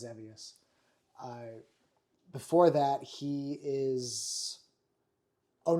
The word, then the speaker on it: Xevious: They had a different pronunciation in Japanese. But we know it as Zevious.